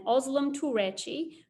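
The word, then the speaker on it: Özlem Türeci: the covert 19 vaccines and i hope i don't mispronounce this my turkish friend said that this is correct scientists uhur shahin and ozlum turechi who are husband and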